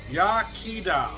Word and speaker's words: Iechyd da: we do it so they give you the pronunciation here welsh for cheers yakida let me show you